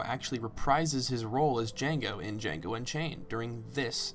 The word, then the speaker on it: Django: reprises his role as Django in Django Unchained during this scene. The D is silent.